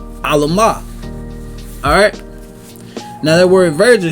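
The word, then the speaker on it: עלמה: All right, that word virgin is pronounced as Alamah.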